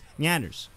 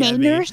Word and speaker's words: Nyanners: It's Nyanners. Yeah. What were you pronouncing before? Everybody was yelling Nainers?